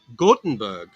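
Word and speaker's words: Göteborg: same mother ah okay you say gothenburg as gothenburg but you say gotenberg in swedish did i say it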